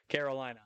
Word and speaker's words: Carolina: Well, and a lot of people too will get the first name wrong sometimes. Like they won't say Carolina. They'll do it. They'll like roll the R or like do it like as if it's like a Hispanic name, and they'll like say it with an accent. And I'm like, nope, just like North Carolina.